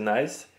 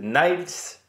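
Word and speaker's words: Nys: alors on m'a dit la prononciation de Timo Nice en francophone c'est Nice et en flamand c'est Nils une sorte de neige on m'a dit c'est le E i de neige une sorte de Tibo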